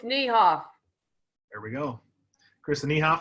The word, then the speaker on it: Niehoff: It's Niehoff.